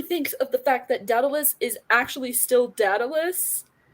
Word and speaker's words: Daedalus: I had to Google how to pronounce it because I was like, I'm going to say it wrong. Daedalus.